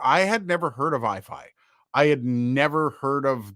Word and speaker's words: iFi: to him and say, what's the pronunciation? Is it iffy? Because it looks like iffy. But then, yeah, iFi.